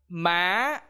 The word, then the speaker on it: má: In this tone, you will try to raise your voice when you speak. For example, á, á, see, má, má.